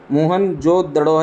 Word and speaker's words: मोहनजोदड़ो: शक्कर जिले में स्थिति मोहनजोदड़ों शब्दों का सही उच्चारण मोहनजोदड़ों है इसकी खोज है कि